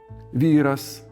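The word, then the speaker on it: výras: It means, the stress always fell on the same syllable of the stem. For example, výr-as, výr-o, výr-u výr-us, výr-ai, výr-ams and so forth.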